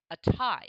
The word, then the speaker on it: Atai: in front of you a tie i believe that's how it's pronounced it's backed by peter